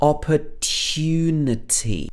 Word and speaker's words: opportunity: take this opportunity opportunity in british english we would say this with a sound in the middle opportunity opportunity and she also says